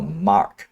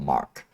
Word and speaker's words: MR: And then we have the Zeus Mark II MR or Mark. According to how CIG pronounce, it's called Mark.